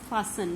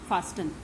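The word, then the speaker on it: fasten: इस word फासन word this is pronounced as फासन, नॉट फास्टन। इसको फासन बोलते हैं। यहाँ टी साइलेंट है।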